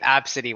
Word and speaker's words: Abcde: I saw the name Absidy once. And then that just stuck with me. The what name? Absidy. Spelled Spell it. ABCDE.